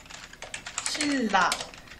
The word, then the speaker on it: 신라: 그리고 유음화는 니은이 리을의 영향을 받아 유음, 리을로 바뀌어 발음되는 현상으로 대표적으로는 신라가 있죠. 신라.